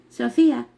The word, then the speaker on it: Sophia: Sophia, pronounced Sophia, is in Greek, Chochmah in Hebrew, and Sepetia in Latin.